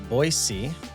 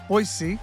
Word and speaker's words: Boise: It First of all, it is pronounced Boisey. Boisey.